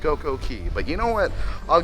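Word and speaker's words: CocoCay: do but tomorrow it's Coco K day a perfect day in Coco okay even though it's pronounced CoCo Key but you know what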